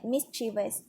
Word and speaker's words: mischievous: the word for example the word mischievous as an has an emphasis on the first syllable miss if you are unsure